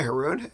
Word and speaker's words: Harun: uh Jeffrey wrote hi harun hey what's up um and if anybody's confused about how to pronounce my last name it rhymes with baboon now you'll never forget